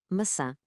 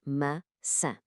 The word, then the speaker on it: maçã: Primeiro, o C com cedilha. Já sabemos, este transforma um som K num som suave de S. Depois o til no A final. E o que é que isso faz? Nasaliza essa vogal. Juntando as duas peças, temos maçã.